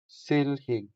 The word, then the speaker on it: silhig: which is in Hiligaynon silhig silhig silhig The stress is on the first syllable, making the first E longer than the second E.